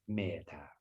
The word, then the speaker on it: metta: So with a Thai pronunciation, it would be metta. And so with that softness to it as well. So as you breathe in, you would say me. As you breathe out, ta, me, ta, right?